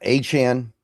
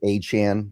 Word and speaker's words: Achane: Yeah, Achane. I think it's I don't know. He changes his pronunciation like every couple months, so I think it's Achane. That's what I've kind of adjusted myself to saying.